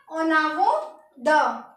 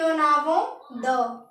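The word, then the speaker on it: en avant de: ओनावो द, ENOAVANT, ओनावो द, in front of, ओनावो द।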